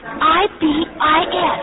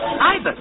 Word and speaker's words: ibis: It's I-B-I-S. Ibis.